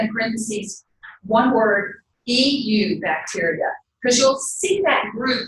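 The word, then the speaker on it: eubacteria: did provide that in parentheses one word he you bacteria Chris will see that group referred to as you bacteria EU bacteria which is pronounced new bacteria what does EU as a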